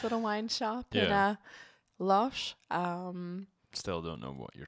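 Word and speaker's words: Loches: Loche.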